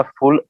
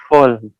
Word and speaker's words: full: तो उसका जो उच्चारण होता है FULL, तो जो यू होता है उसको हम करके प्रोनाउंस करते हैं, और इंग्लिश में UH। तो उसको अगर बोलेंगे तो वो फुल, फुल, एल पे थोड़ा सा स्ट्रेस जाएगा जी।